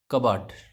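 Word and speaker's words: cupboard: जैसे यहाँ पे देखो, ये पी साइलेंट है, इसमें इसको हम क्या पढ़ेंगे, कबाट। क्या पढ़ेंगे, कबाट।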